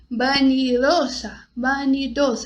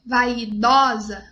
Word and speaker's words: vanidosa: Vanidosa. Não é vaidosa. Vanidosa. Eres vanidosa. Então, sempre o O bem fechado na hora de pronunciar as palavras em espanhol.